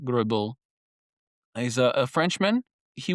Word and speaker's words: Greubel: So, so Robert Grubil, which is again Robert Gribble, he's a a Frenchman.